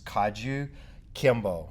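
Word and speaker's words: Kajukenbo: of martial arts is kaju kimbo now it comes in five syllables kaju kim bo well for five arts four syllables but anyway they'll separate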